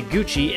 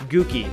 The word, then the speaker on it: Gucci: In Italian, double C's are pronounced like CH if followed by an E or an I. Hence why you say Gucci and not Gookie.